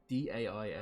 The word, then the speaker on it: dais: Dais? I never know how to pronounce that word. D-A-I-S. Dais. Dais, thank you.